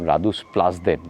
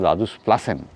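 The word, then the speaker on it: Rådhuspladsen: আমি একটু আগে বললাম রাদুস প্লাস দেন ওটা উচ্চারণটা হবে রাদুস প্লাসেন পি L eddy A সি এন প্লাসেন এখানে দেখুন কাজ চলছে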